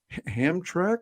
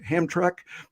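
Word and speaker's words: Hamtramck: name of that town outside Detroit oh uh Amtrak he says or hammock and as he says Terry do you know how many people know that it's pronounced hamtrek and I said no I did not know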